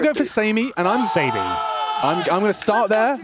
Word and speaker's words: SaMey: can't believe it guys it's obviously Sammy that's just how we spell it yeah it's it could be we're go for Sam and I'm Sam I'm I'm going to start